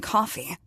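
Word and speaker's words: Coffey: of the miraculous John coffee like the drink except not spelled the same spring from the vivid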